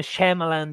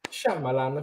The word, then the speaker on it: Shyamalan: le dirette perché a higlander e meravigliose come shymalan di ieri sera come volevi dire chambre ha